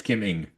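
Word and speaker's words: Kim Ng: Anyways, yeah, but we ended up getting to Kiming because I knew it was NG, but I wasn't sure how to say it.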